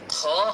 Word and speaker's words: খ: হচ্ছে কণ্ঠনালীর শেষ তো খ অক্ষরটি মূলত কন্ঠনালীর অথবা গলার শেষ থেকে একটু খেরখিরি টাইপের আওয়াজ বের করে উচ্চারণ করতে হয়।